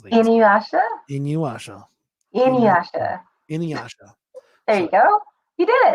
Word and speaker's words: Inuyasha: How much you love in see, now this is when I forget how to pronounce things. Inuyasha.